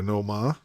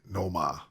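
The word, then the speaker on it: Nomar: the red sox theme you gotta know ma and yes that's how you say it no ma cassiopara and a bobby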